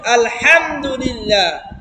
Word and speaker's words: আলহামদুলিল্লাহ: বেশি কঠিন না, একটা চাপ দিয়ে উচ্চারণ হবে আলহামদুলিল্লাহ। হ্যাঁ, আর আলহামদু এটা হবে না, হা হবে না, এই হাটা হবে হা, হা, হা, হা, হা, হা। বুঝতেছে? মানে গলার মধ্যে এখন তো একটু ভারী হয়ে গেছে জিহ্বা, এই জন্য